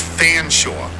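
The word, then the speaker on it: Featherstonehaugh: and it's pronounced Beaver Featherstone Hall is an English family it's fanore the military ranked Lieutenant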